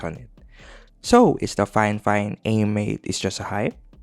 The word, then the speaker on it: Fifine: Though it spells Fifine, based from what I researched, the correct pronunciation is Fifine.